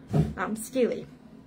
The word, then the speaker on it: stele: Stele. I looked up how to pronounce it.